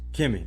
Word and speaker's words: Kemi: It is Kemi or Kemi? Kemi, that's what I thought.